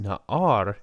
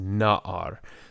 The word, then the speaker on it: na'ar: So you'll notice that the caret on page 26 is hanging over the noon, and that's because this is not pronounced na'ar, it's pronounced na'ar.